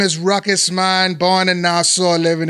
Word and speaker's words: Ruckus: is it pronounced Raku? Like he says on the show. Oh, no, man, I was Ruckus, man, way before. I was Ruckus, man, from 1994.